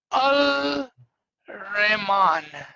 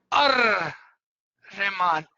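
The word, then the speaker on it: الرحمن: Betul Kyal Farman, that the way we have written and the way you pronounce is different. Is different. Right. If what is written over is Al Rahman, Al Rahman. But if you are saying it together, it would be Ar Rahman.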